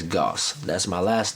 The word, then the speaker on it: Gauce: Literally, it's spelled like sauce, S-A-U-C-E, but it has a G instead of the S. Sauce is Goss.